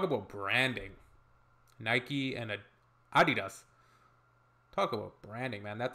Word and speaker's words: Adidas: first time I did Americans and Canadians probably going pronounce this like Adidas Adidas didn't understand at all what they were referring to because they usually pronounced Adidas and in Germany we say Adidas Adidas Adidas huh okay Adidas super different it's the second largest